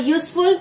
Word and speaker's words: useful: Then, when we talk about the uniform, when we talk about a useful and European, so though it is starting with E when we write or U, but it is pronouncing like Y.